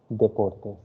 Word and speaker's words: deportes: Okay, singular is deporte and plural is deportes. So Yes. D is not pronounced as the, D is pronounced as the.